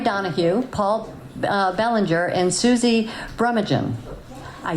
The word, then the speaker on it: Brumaghim: So Kota is comprised of Laurie Donohue, Paul Belanger, and Suzi Brumaghim.